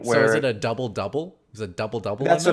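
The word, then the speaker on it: ダブル: here they know that it's a w but it's pronounced if you ever see it on a can of something in japan or a label it's double i i don't know why and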